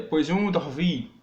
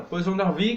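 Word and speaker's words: poisson d'avril: Que é Poisson d'Arvie, ó, pronúncia foda. Poisson d'Arvie, que é bobos ou tolos de abril, que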